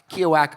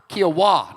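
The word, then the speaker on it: Kiawah: There's one very, very important question here, and it's from Denise Brindley from Keowak Island in South Carolina. Did I say that right? Keowak? Or Keowak? Kiowa, no K at all.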